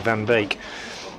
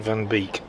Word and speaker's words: Van Beek: balls slower again and Van bake beak I should say not bake bake is the Dutch pronunciation Van Beek is what Logan prefers when he's in England and he just let's that